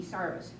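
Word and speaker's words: service: They tell me that they got their names, it's spelled S-E-R-V-I-C-E, sarvis.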